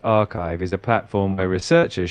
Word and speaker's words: arXiv: ARX pronounced archive is a platform where researchers share scientific papers before formal peer review.